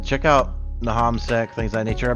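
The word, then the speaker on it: Nahamsec: Yeah, Nahamsek.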